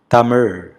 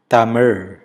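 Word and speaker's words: தமிழ்: Tamil. The letter Ra is unique to the language and it is very different from the Z sound of English. Tamilians are impressed when a non-native speaker pronounces it right.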